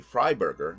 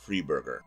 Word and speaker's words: Freiberger: It's supposed to be Freiberger, not Freeberger.